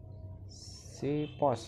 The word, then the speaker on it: Xiphos: ya di sini ada raket lining shipost ya bacanya Ya X1 oke ya Eh